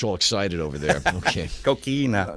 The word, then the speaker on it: coquina: I even did a cocaine of mine one time over and flagler make sure you get that pronounced correctly coquina key now just want